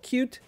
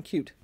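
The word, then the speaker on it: Qt: interface it was written in a language called cute which is spelled capital q lowercase t so it was written in cute and bill was the guy behind that so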